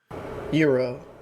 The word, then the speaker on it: gyro: Uh yeah, this is how you say gyro. Euro. Euro.